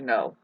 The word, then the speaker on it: know: begin to start to know which is really the word now otherwise you would take the W away and it would be no with a silent k thank God that rhymed